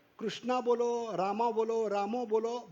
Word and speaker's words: कृष्ण: कृष्णा नहीं, कृष्णा द्रौपदी का नाम है। हा? उच्चारण करते समय कृष्ण बोलने का, ठीक है? जैसे कृषि बोलते हैं, कृषि उद्योग, वो क्रू है, वो कृष्ण में आना चाहिए।